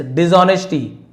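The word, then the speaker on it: dishonesty: Letter, बाद में, ड्यू टू हिज डिसऑनेस्टी, है ना, एच साइलेंट है, डिसऑनेस्टी नहीं बोलेंगे, ऑनेस्टी।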